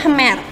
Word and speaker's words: Khmer: 90% penduduknya itu adalah orang Khmer ya bacanya Mr 90% penduduk dari negara